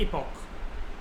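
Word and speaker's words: epoch: Are further divided into इसकी pronunciation होती है इपॉक, और कई लोग इसको एपिक भी कहते हैं, लेकिन एपिक ना बोल के हमें इसको इपॉक ही बोलना चाहिए।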